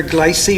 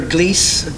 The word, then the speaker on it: Gliese: the red dwarf here glycy or gliese depends how however you want to pronounce it um the red dwarf's